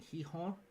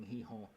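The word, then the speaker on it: Gijón: I think Sporting Heihorn. It is Sporting Heihaw. Uh, they're not a donkey. That's just how you pronounce Heihorn.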